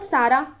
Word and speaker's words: सारा: साला को सारा, ठीक है, यहाँ पे छत्तीसगढ़ी में ल का प्रोनाउंस र के रूप में होता है, ठीक। ल को र बोल देते हैं तो सारा हो गया।